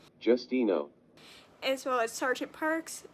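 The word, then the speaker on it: Justineau: to call her Miss J here's how to pronounce her actual name Justino as well as sgent Parks Dr Caldwell and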